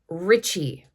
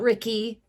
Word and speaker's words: Ricci: pretty sure that with this name you would pronounce the Double C as CH H so Richie I believe that his name is Richie Davis not REI not Ricky but re but uh Richie I know it's